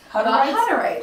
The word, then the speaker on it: Hutterite: Hutterite.